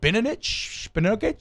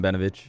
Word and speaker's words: Benovich: Calvin Throckmorton, Eric McCoy, Cesar Ruiz, and Caleb Benovich. But Mario, how do you pronounce it? I believe you had it right the first time, Benovich.